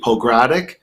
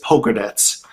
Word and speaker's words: Pogradec: I've been to Pogradec, which you would pronounce it probably Pogradic because it's spelled Pogradic, but it's pronounced, and it's actually the actual way to say it is Pogradec, and that is just